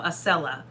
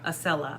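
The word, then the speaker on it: Acela: we say something wrong we did find out we've been pronouncing some of the trains wrong so yes maurice has said but i've already corrected that today sorry i think we're saying here right now asella yeah asella i literally said it like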